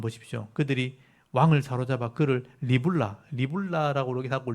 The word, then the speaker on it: 리블라: 거기 6절에서 한번 보십시오 그들이 왕을 사로잡아 그를 리블라 리라라 그러기 하고 립나 그러기도 합니다 리라를 좀 짧게 발음하면 나가 되죠 립나에 있는 바벨론 왕계 끌고